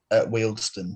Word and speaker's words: Wealdstone: Around 22nd, we've got Wellstone. Wealdstone, that's how you pronounce it.